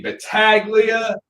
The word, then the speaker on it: Battaglia: though it's everywhere on the screen that is b a t t a g l i a being in Tennessee you hear about every single pronunciation you could think of except the right